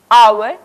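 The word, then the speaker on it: hour: लेकिन कई शब्दों में ये मूक यानी कि साइलेंट रहता है, जैसे आवर, ऑनेस्ट, इस तरह के शब्द।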